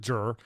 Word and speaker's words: Jer: One, I did pronounce it Jer.